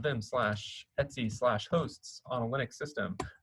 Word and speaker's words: etc: called the hosts file this folder right here is pronounced etsy um not etc not etc uh etsy that's one of the